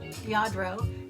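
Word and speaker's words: Lladró: I don't know if you're familiar with yardro it's spelled l l a d r o yadro and they're these really nice really expensive figurines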